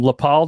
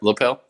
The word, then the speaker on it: Lapel: that uh that um lapall did i say it right lapel yep lapel 1.38 square miles total